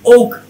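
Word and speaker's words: walk: তারপরে কি ওক, ডাব্লিউ এ কে, ওক, এল কিন্তু নাই, ওক, ওক, এটাকে ওয়াক জানি আমরা, তাই না?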